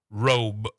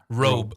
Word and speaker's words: robe: which we make sure like a B sound. Make it strong. Bet. Robe. Robe. You notice that I have to go out of my way to say the B sound. Yeah. Robe.